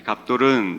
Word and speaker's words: 갑돌: 블레셋 사람을 멸망시키시는데 갑돌, 이 갑돌은 제가 수요예배 때 디도서 말씀을 통해 등장했던 그레데섬의 히브리식 발음이 갑돌입니다.